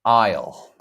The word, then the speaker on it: aisle: So here's the hard part because people say people don't know how to say that isle. I isle. So that's English pronunciation is different.